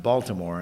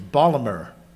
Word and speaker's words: Baltimore: where and I know it's not pronounced Baltimore unless you're a foreigner it's bmer if you're from Baltimore and he came up